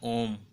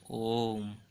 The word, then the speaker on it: ओम: प्लुत स्वर 1 होता है, वह होता है ओम, जिसके उच्चारण में ह्रस्व स्वर की तुलना में 3 गुना समय लगता है, ओम।